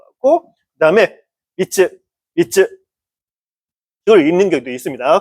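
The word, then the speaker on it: 三つ: 자 미끄로 하면 세봉지 이런 식으로 쓸 때 쓰는 소리라고 생각하시면 될 거 같고 아니 소리야 뜻이라고 생각하면 될 거 같고 그다음에 미츠 미츠 그걸 읽는 경우도 있습니다.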